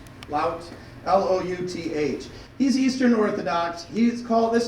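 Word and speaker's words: Louth: Lout, L-O-U-T-H.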